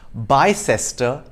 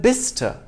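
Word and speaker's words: Bicester: mouth but tinmuth two it's not pronounced by sester but bista three it's not south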